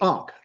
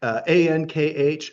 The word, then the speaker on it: Ankh: That's called the Ankh, Ankh in our writing, and that is like the symbol of life. And the name, and sometimes the K at the end is silent.